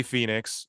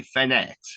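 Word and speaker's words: Fénix: He was like Ray Fenix or Ray something like that. Fenix, because he knows the correct pronunciation of every move and every Oh, wrestler.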